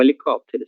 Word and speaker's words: helicóptero: É o helicóptero, certo? Assim se escreve helicóptero. E essa letra P, ela será pronunciada, certo? Helicóptero, ¿ok? Es como si hubiera una I después de esta letra P.